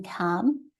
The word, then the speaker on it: Cham: say and then there's a smaller campus in cam which is that one on the right spelled Cham but pronounced in German's Cam and that's um a